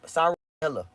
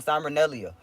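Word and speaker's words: sirenomelia: Because I want her to look up siren sirenella. I'm saying it wrong. Sirenelia.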